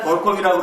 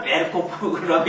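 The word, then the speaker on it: Berkhof: 벌컥벌컥 마셔버리는데 우리가 맨날 벌컵이라고 그러지 이게 벌컵이 아니라 벨코프라고 읽어야 되는데 우리가 이제 벌컵이라고 얘기합니다.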